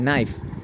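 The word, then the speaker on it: knife: কের উচ্চারণটা হয়নি এরপরে কে এন আই এফ ই নাইফ এই নাইফ মানে চুরি তাইলে এখানেও কের উচ্চারণটা হয়নি এরপর নলেজ নলেজ তো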